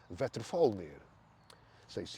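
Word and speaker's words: Veðrfölnir: The name of the eagle but the name of the hawk is vetal say which is mangal north pronunciation.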